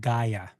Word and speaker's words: Gaea: Just to let you guys know how to pronounce this, our hotel right now is called Gaea.